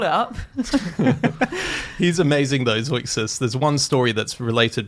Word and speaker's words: Zeuxis: Am I pronouncing that? Zeuxis? Like Zeugma. It's Zeuxis? Yeah. So the Greek artist is called Zeuxis, 5th century BC.